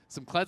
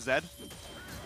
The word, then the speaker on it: Kled: By our boomer producer, Arthur, the mayor, that Rick Fox was calling the champion Zed. Just outright, just mispronouncing the name. And they're like, well, it's Zed on a horse then.